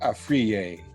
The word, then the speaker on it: Afriyie: so let's let's learn all about this arier joins us now did I say it right